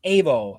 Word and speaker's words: AVO: That's AVO, pronounced AO.